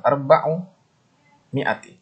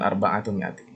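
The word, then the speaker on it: أربع مائة: Ketika ma'dudnya muannas tetap arba'u mi'ati. Jadi nggak dibaca salah satu mi'ati. Bukan, tapi tetap. Begitu juga di muannas tetap arba'u mi'ati. Bukan arba'atu mi'ati ya.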